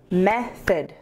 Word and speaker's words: method: Method has two syllables. Method. Method. And we put the stress on the first syllable.